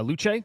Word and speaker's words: Luce: which is absolutely wild the character's named uh luch that's how you pronounce it it's uh is it Italian for